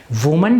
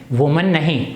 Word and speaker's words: women: इसका प्रोनाउंसिएशन क्या है, विमेन, वुमन नहीं।